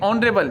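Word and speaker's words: honorable: तो इसमें देखिए ऑनरेबल, यहाँ पे एच जो है वो साइलेंट हो गया और ऑनरेबल है, तो यहाँ पर एन का प्रयोग किया जाएगा।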